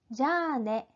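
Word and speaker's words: じゃあね: 자, 자에서 자는 요음, 작은 야가 붙었죠. 거기에 아까지 붙었어요. 아는 장음. 우리가 앞에서 배웠던 발음 규칙이 다 들어가 있죠. 자네, 자네. 자를 길게 늘려주시는 장음이에요.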